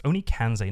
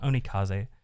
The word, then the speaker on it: Onikanze: I always pronounce that wrong. It's Onikanze, not Onikaze.